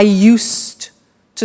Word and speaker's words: used to: then t o but the pronunciation is not used it's used unusual used okay so the example is i used to smoke and that's for